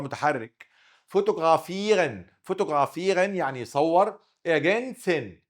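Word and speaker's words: ergänzen: اجنسن هنا وراه ساكن كده مش موجوده، عين صغيره.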